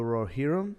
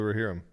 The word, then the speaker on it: Rohirrim: watched this movie called, I'll make sure I pronounce it correctly, War of the Rohirrim. Yeah, War of the Rohirrim.